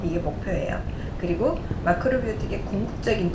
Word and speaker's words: 마크로비오틱: 마크로비오틱 제가 일본식 발음을 하고 있는데요. 이제 영어식 발음은 매크로바이오틱 하겠지요.